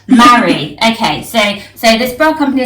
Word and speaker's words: Maaree: Of course, it's Maaree, like when you're getting married. Maaree.